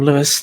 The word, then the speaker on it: Louis: de Concord it's working Louis the Lou Lou is it Lou yes you don't pronounce the S what why is it